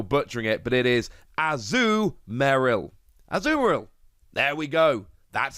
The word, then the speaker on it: Azumarill: i'm probably still butchering it but it is azu meryl azurill there we go that's how it's pronounced anyway that's not the most important thing